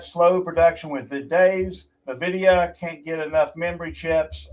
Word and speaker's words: Nvidia: Samsung and SK Hynix supply Apple the uh the uh How you How you pronounce the name? Is that the Nvidia? Uh Nvidia? Anyway. Yeah, Nvidia.